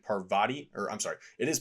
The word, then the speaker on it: Parvati: For the longest time, I was saying Parvati or I'm sorry, it is Parvati. For the longest time, I was saying Pavari and that's not right.